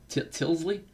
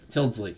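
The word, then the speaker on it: Tyldesley: time i'd say maybe aside from clive tilly tillsley how do you pronounce i i have never been able to pronounce his name correctly clive tillsley i gotta look that up clive till tildsley tildsley yeah it's a t-y-l-d-e-s-l-e-y tildsley him and uh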